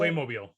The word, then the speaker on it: Playmobil: Playmobil or mobile? How do you say that? Playmobil. Yeah, Playmobil. Mobile.